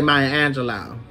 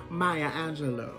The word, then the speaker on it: Maya Angelou: But you know, the hood, we say Maya Angelou. But it's actually pronounced Maya Angelou.